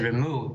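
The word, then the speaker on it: Rema: The Ramah, I would say the Remu in our Yiddish pronunciation, or the Ramah, Rabbi Moses Isserlis, literally throws the whole thing out the window.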